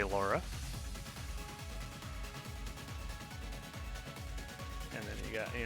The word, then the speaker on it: Laura: anymore yeah so yes in katakana it's pronounced rara rara but we say Laura and then you got